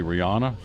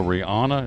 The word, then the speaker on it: Rihanna: and the halftime show is going to be Rihanna I guess I say her name Rihanna I Love Her am I saying it right